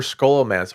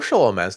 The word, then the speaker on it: Scholomance: Yeah, and nary a place for Scholomance or Sholomance, depending on how you say it, that once we find it, though.